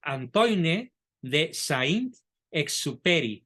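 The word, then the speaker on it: Antoine de Saint-Exupéry: francés Antoine de Sound se pronuncia Antoine de Saint exuperi con y al final Antoine Que el silencio es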